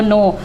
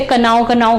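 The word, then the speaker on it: know: लेकिन बहुत से बच्चों को नहीं पता कि जानता को नो, और अधिकतर बच्चे से कनाओ करके पढ़ते हैं। के साइलेंट होता है, आपको नो पढ़ना है, ठीक है।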